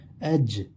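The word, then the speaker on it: edge: वाव लगाएंगे लाइ डॉट एज इसमें भी डी साइलेंट होता है तो अ का वावल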